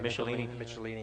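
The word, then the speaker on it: Michelinie: For Iron Man, David, how do you pronounce his last name? Michelini and Bob Layton.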